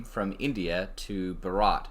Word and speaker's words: Bharat: name from India to Bharat how do you pronounce it like a th shot at the end yep th at the end and BH in the beginning for what it's worth